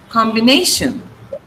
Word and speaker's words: combination: So you have combination. Okay. Now, what is the rule for words with T-I-O-N? The syllable preceding T-I-O-N should be stressed. So it is combination.